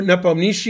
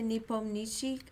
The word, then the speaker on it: Nepomniachtchi: He drew Nepomniachtchi in 1 minute, and he drew somebody else in 1 minute.